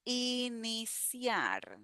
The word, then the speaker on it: iniciar: Next word we have iniciar. Iniciar. So here the C has a sound similar to the S.